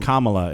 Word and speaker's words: Kamala: kamala harris is gonna be the president or kamala is how it's pronounced um but anyway uh i believe that's